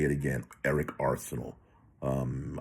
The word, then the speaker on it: Arceneaux: say it again Eric Arsenal um I know it's Arsenal sounds like combat but he spells it I believe a r neux something like that if you spell it